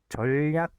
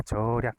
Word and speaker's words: 절약: 절약 니은 첨가가 안 되는 거죠. 그러니까 전략 이렇게 안 되고 절약 그냥 절약으로만 발음이 된다.